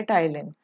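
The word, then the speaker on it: ptyalin: enzyme का name है उसको बोलते हैं टाइलिन उसको क्या बोलते हैं टाइलिन पी साइलेंट है इसमें उसको बोला जाता टाइलैंड दूसरा आपको पूछा जाता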